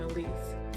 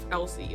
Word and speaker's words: Elsie: what I got and I did realize Ashley told me I was pronouncing her name her first name incorrectly what is it Alise Elsie I think I was saying Elise Elsie apparently so Elsie silver um